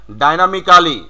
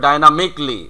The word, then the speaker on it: dynamically: তারপরে আছে ডাইনামিক্যালি, Dynamically. হ্যাঁ তাহলে হবে ডাইনামিকলি, একইভাবে সবগুলোই।